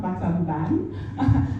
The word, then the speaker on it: Battambang: I was told it's pronounced Battambang, not Battambang, as we would pronounce the A, at the university out there.